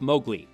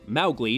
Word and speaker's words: Mowgli: Way back in 1994, Disney gave us a new take on Ruard Kiplings classic tale of Mowgli or Mowgli depending on whether you're going by Disney's pronunciation or Kiplings, the boy who was raised by animals in the jungle.